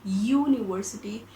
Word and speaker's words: university: is a vowel but when we pronounce it we get this ya sound in the beginning because we call it university and yeah my dear